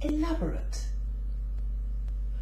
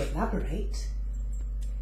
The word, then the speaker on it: elaborate: an adjective you say elaborate but when it's used as a verb to elaborate the ending is stressed and therefore it says eight so we have elaborate